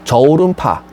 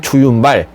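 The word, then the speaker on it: 周潤發: 근데 중국 사람들은 주윤발이라고 읽지 않고 똑같은 한자를 저오른파 이렇게 읽습니다. 그러니까 그분의 진짜 이름은 저오른파, 우리는 그냥 주윤발 이렇게 부르는 겁니다.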